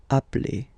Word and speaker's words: appelle: are the same, then it does change the pronunciation of a. You tend to pronounce it like really open. That's the reason why you pronounce it appel, okay?